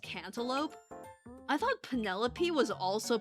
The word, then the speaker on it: Penelope: But then I heard people say penelope, and I'd be like, um, if it was spelled panel, then wouldn't the PE like be like a like a distinct thing and not just a like a lope? Um, actually I still think panalopee is sounds like a decent word.